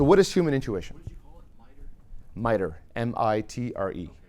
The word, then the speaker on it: MITRE: is human intuition mitre mi tre mitre yeah it's called the mitre attack Fremont and it's spelled just like that at the top